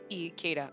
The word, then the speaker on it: Ikeda: Ikeda. I know I said Ikeda. I can't. I don't know why. I don't know why my brain won't say like Ikea. It's E. E, not I. It's pronounced E, Spacey!